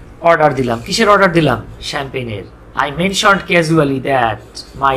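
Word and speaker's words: champagne: সে বললো, এটা আবার চ্যাম্পিয়ন কইন না, আবার চ্যাম্প্যাগ নেই বলে না, এটা উচ্চারণ হচ্ছে শ্যাম্পেন।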